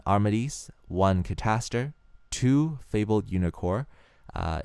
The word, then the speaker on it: Unicore: fabled Reagan one armades one cter two fabled unicor uh it's spelled unicore u n i c o r